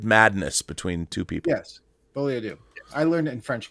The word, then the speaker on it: folie à deux: Folie à deux. Yeah, folie à deux. It's deux. Yeah, folie à deux. Everyone's going folio deux. No, it's folie à deux.